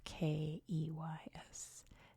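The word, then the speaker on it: Cayes: the coast are beautiful Keys which in this corner of the Caribbean is spelled c a Ys I know in America it's spelled k e Ys here it's c a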